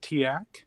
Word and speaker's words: TEAC: So TEAC, we pronounce it TIAC.